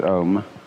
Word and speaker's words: Om: Actually, the word Om is spelled out in Sanskrit, Ah, U, and thus comprises the whole range of sound from the back of the throat to the lips.